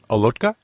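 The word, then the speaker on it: Olotka: Bill herbal Peter what's the second how you pronounced Peter's name there Dan go for it alotka he's actually one of my Facebook friends oh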